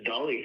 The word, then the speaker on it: Dali: Yeah, this Dolly thing. The ship's called Dolly, spelled the same, D-A-L-I.